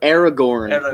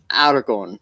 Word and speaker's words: Aragorn: Aragorn, not Aragorn. Yeah, no, she just like. Just give it the New York accent, and you'll never say it wrong.